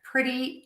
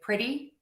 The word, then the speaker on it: pretty: when you have a T in the middle of the word, it can be one or two. If it is between two vowel sounds, the and the E in pretty, or if it is between a vowel and an R, like matter, or a vowel and an L, like cattle or metal, we are going to pronounce that T as a flap T.